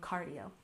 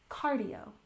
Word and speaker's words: cardio: Cardio is shortened from cardiovascular, and you'll often hear native speakers simply saying cardio. We put the stress on the first syllable, cardio, cardio. Good.